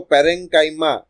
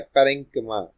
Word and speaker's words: parenchyma: होते हैं वो है पैरेंक्मा. ओके, बहुत सारे लोग उसको पैरेंकाइमा या पैरेंक्शाइमा ऐसा भी प्रोनाउंस करते हैं. I have search in the Google, उसका करेक्ट प्रोनाउंसिएशन है पैरेंक्मा.